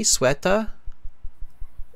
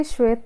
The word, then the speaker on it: Shweta: Am I pronouncing your name okay, Swetha? It's actually Shweta, but Shweta.